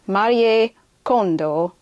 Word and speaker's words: Kondo: Marie Kondo. Anyway, that's the correct way to say her name.